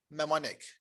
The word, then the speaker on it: mnemonic: o and i c this word here is pronounced mnemonic the n silent our list of topics and